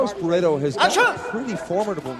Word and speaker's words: Barreto: TELLIGMAN is defending well against the low kick attempts there by Carlos Barreto. Or Barreto, as they pronounce it in Brazil.